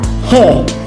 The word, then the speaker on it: hare: कहानी है the lion and द हे। तो इसको हम हे बोलेंगे, ये आर हमारा साइलेंट रहेगा।